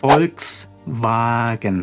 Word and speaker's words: Volkswagen: O V, né, o V se pronuncia como um F em português.